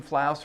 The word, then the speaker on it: Flouse: I'm Flouse, Rhymes with House.